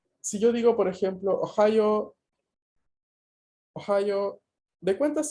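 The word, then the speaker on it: おはよう: Ohio tiene 4 sílabas. O, la vocal O se considera, digamos, se divide como una sílaba. O, ja, la sílaba ja, la sílaba yo y la U final, que se lee O, larga igual, se considera también una sílaba.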